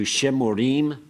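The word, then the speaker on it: שְׁמֻרִים: singular it's shamur and in the plural it's going to change to shemorim this is the third syllable back don't be confused by this little dot there it's going to go to a schwa so let's take uh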